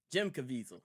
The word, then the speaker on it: Caviezel: Caviezel? Jim Caviezel. Jim Caviezel, yeah.